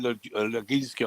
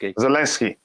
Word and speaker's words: Zelensky: the president of Ukraine, Leginsky, I can't say his name. He asked, Zelensky.